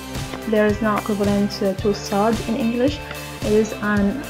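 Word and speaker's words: ص: Try to pronounce it sa. Sa, it is not like se, it is a little bit to the back of se. Se, sa. So there is a difference. Se, this is teen. Sa, this is sad.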